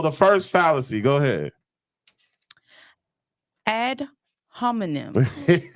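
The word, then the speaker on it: ad hominem: first fallacy go ahead add homonym is that how you pronounce it yes ma'am it is ADD homonym so add homonym fallacy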